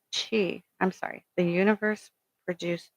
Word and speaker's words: qi: A Taoist text explains or reads the universe product Kui, spiritual energy pronounced Chi.